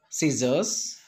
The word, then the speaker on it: scissors: science it is science next descent sea silent scissors scissors and muscle so dc can't pronounce here next letter d pronunciation silent d